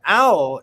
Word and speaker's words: awl: Not owl as all. But not all. Yeah. As in ALL. You gotta say it like a Southern person. Owl. Yeah. Yeah. You gotta put that W in there.